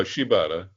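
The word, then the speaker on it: Shibata: So, you know, he he's wrestling Sabata and um am I pronouncing it right? Uh she you call Sheibata.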